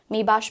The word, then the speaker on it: Maybach: pronunciation for this luxury car brand, that is Maybach becomes the correct pronunciation.